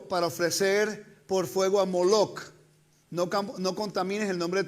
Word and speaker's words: Moloch: Boshet, que es vergüenza, las vocales de la palabra vergüenza, y las pusieron debajo del nombre de las letras que es, en vez de Melech, rey, se pronuncia Moloch.